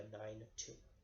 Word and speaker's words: benign: there ven IG a benign - a benign tumor yeah you can live